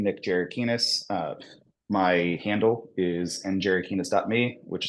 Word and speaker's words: Gerakines: Yeah, it's Jerikinis.